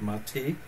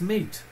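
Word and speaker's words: MATE: not like us we know that it's not mati it's meat so so yeah there you go now you know in how to pronounce the major desktop it's meat because I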